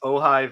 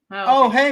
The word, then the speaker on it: Ojai: It's Ojai Valley Brewery. Oh, hey Valley.